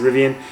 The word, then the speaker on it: Rivian: I pronounce it Rivian.